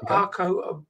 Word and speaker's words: Arco: How do we pronounce Arco, your name? Arco, you said it right.